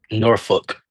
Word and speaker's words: Norfolk: How do like the actual locals say it? Norfolk. Norfolk. Norfolk. Oh, like literally like fuck.